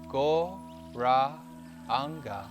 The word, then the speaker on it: Gauranga: mantra breathing now using the mantra gauranga in four parts four syllables gore rah anger and as we raise